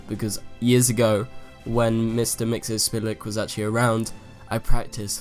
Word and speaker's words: Mxyzptlk: Mxyzptlk, and that's how you say it, because years ago, when Mr. Mxyzptlk was actually around, I practiced for the longest